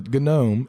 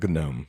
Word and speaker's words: gnome: Yeah, gnome. Yeah, the silent G needs to be in all of our lives.